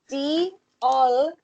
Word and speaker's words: diolch: Like deal, as in like. Like D-double-E. This isn't how you spell it. I'm doing it so you can, understand. D-double-E-O-L and then C-H. But that C-H is the noise.